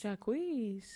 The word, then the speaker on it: Jacquees: Jacquees.